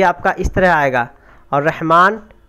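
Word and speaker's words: رحمٰن: इस तरह आएगा, और रहमान को आपको लिखा तो रहमन जाएगा, क्या जाएगा? रहमन, लेकिन यहाँ खड़ा लगाएंगे तो ये पूरा अलिफ का काम कर जाएगा।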